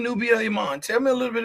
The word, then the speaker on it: Emmon: And I'm not sure how came about, but it's not spelled like the typical. It's just Emmon. So most people say Nubia Emmon, which is totally fine.